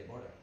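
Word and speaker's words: Dvořák: que el otro día alguien me corrigió no se dice borsa se dice devora ah buen bueno eh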